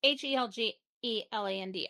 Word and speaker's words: Helgeland: Written and directed by Brian, I don't know how to pronounce this, Helgeland? Helgeland? It's Helgeland. I suck at pronunciations.